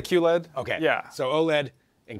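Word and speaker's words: QLED: yes difference between OLED is it Q letter Q LED what's the right way to say that we say Q LED okay yeah so OLED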